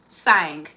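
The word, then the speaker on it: Tsang: And then house of I believe the tea is silent. House of Sang.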